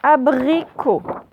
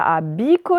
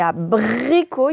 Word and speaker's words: abricot: Donc, allez-y, abricot. Alors, A, première syllabe, une lettre A. Alors là, attention, brie, ce n'est pas dri, c'est brie, c'est le B. La botte. Et attention, ce n'est pas abico, c'est abricot, il y a un R après